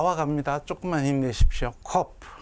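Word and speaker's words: ק: 코프. 영어 꼭 P처럼 생겼죠. 코프. 키읔이고요. 음가는 키읔이고 잠깐 카프도 키읔이었죠. 비슷한 발음이 납니다. 카프에 점이 있는 경우와 코프하고는 발음이 같습니다.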